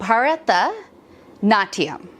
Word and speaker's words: Bharatanatyam: So Bharatanatyam. Bharatanatyam. Yes. You can yes. tell me it's terrible. No, Bharatanatyam. No, that's perfect. That's exactly how you pronounce it. And there's an aspirate H right after the B.